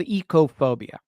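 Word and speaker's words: oikophobia: It's called ecophobia. O-I-K-O. Eco, it's pronounced in the Greek.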